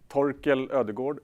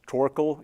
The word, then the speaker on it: Torkel: my name is uh toel is how you pronounce it in Swedish mostly it's becomes tol in English um I've uh so